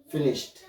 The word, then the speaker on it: finished: like fit me finished so the sound the last sound is t sound finished finished finished let's